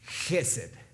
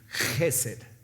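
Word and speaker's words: חסד: Misericordia viene de una palabra hebrea que es Gesed, con K al inicio. En el español se escribe así para que podamos darle ese sonido como de carraspera al inicio.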